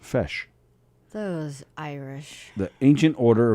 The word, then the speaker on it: feis: dresses and stuff uh pajano says it's pronounced fresh fresh i don't know he just wrote fesh yeah so i'm assuming it's pronounced fesh those irish the ancient